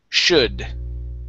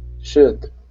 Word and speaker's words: should: Okay, this L is silent. We do not pronounce it. Should. Should.